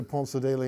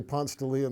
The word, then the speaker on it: Ponce de Leon: you're a native Georgian is that you can pronounce it correctly you don't say Ponce daily no no people when I say Ponce de Leon they look at me like and I speak